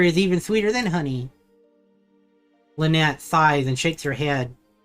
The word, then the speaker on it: Lynette: I am Lynette, like the birds, you know, but it's spelled differently.